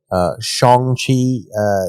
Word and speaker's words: Shang-Chi: while Shang-Chi, and I just learned how to pronounce that from the latest trailer, Shang-Chi is keeping its date with a shortened theatrical